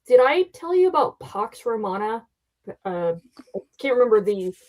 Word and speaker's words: Pax: You're pronouncing Pax the way it's actually pronounced, which is Pox.